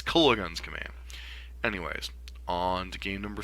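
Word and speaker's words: Kolaghan's Command: green block X decks he keeps pronouncing it kilala kilala goons command or something and it's just like that pronunciation gets stuck in my head and I'm like it's Cola guns command anyways on to game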